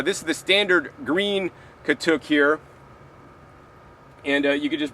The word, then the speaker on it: katuk: They might mispronounce it here in the South, called Katuk or Katuk or something, but it's Katuk.